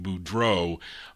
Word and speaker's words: Boudreau: His real name, Olin Angel Boudreau, as it's spelled like that funny spelling of Boudelex, I call it, but it's really pronounced, thank you, Charlene, Boudreau on that.